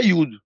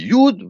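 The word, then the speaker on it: יוד: a on dit a mais en hébreu quand on dit yououd on dit pas yououd on dit youud vav d'Alette autrement dit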